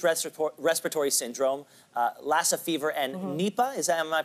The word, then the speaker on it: Nipah: So there's Middle East Respiratory Syndrome, Lassa fever, and Nipah. Am I pronouncing that correctly?